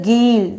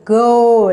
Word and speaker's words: goal: This is a geel. It's not a geel, it's a goal. You're having a O sound.